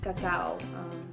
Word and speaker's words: cacao: We have a design with quinoa, which is an ancient grain, a design with sardines, and a design with cacao. That's how you pronounce it in Spanish.